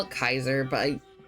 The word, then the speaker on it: Kaiser: Kaiser is the proper pronunciation.